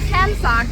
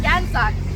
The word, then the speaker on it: Gansak: But so the name like Gansak is spelled with a K in English, but it's not Kansak, it's Gansak.